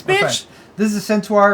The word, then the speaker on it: Centaur: How do you pronounce that? Centaur.